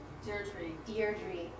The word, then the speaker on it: Deirdre: Deirdre.